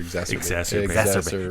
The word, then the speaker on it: exacerbate: Exacerbate. Exacerbate. Four syllables. 4 syllables. No, and 1, 2, 3, 4.